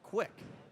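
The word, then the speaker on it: Kuek: So 2 coming up for Quick, and his name is spelled K-U-E-K, K-U-E-K, but it's pronounced Quick.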